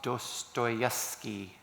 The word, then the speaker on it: Dostoevsky: I won't know if I'll pronounce his name well. It's Dostoevsky, right?